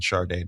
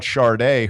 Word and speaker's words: Sade: If she wants to be called Sade, her name should be spelled Shardeeday. Sade.